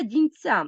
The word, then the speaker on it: Дінця: закінченні степу Байкалу рейнун але Дністра Дінця наголос на закінчення падає і це важливо наголос